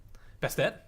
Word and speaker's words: Bastet: My favorite Egyptian god is Bastet. Bastet? Bastet. It's pronounced either way.